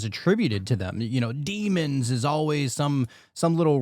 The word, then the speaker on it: daemon: of the word demon goes back to Damon or it's still pronounced demon I think but it looks like Damon, right? D AE M O N.